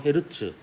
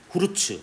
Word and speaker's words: 헤르츠: 찍었던 헤르츠의 이름을 따서 대문자 H 소문자 Z로 쓰고 헤르츠라고 읽고요. 후르츠 아닙니다.